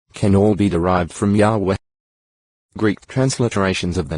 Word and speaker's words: Yahweh: read Ua, Ui, and Iho-wa. Ginsburg's edition of the Masoretic text vowel points the divine name to read Iho-wa. GE 3. 14. FT and Hebrew scholars generally favor Yahweh as the most likely pronunciation.